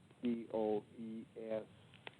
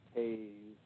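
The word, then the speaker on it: Toews: His last name is written T-O-E-S, T-O-E-W-E-S, toes. But in fact, they insist it should be pronounced Taze.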